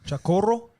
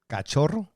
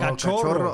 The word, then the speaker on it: Cachorro: How about I said this wrong earlier and he corrected me, and I might say it wrong again. Chacorro? Cachorro. Oh, Cachorro.